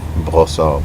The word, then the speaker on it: Brossard: I went to school in Brossard. Is the proper way to pronounce it. It's French, and I grew up there and went to school there and stuff.